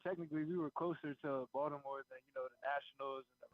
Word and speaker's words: Baltimore: Do you pronounce the T when you say Baltimore? Or do you understand it's really like a D? How does that? It's a D to me.